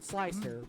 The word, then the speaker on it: Slic3r: So, there there was a slicing program called Slic3r, with a spelled with a three.